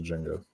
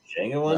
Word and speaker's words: Django: All right, fair enough, but Django Unchained will take the crown for this Django Unchained. There you go. All right, and the D is silent.